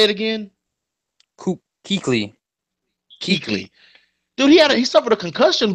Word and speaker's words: Kuechly: Keekley.